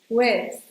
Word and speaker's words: with: Also, when you're saying "with", make sure you do the unvoiced th sound: "with".